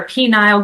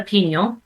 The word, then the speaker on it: pineal: The pineal gland or penile gland, depending on how you say it. I call it a pineal.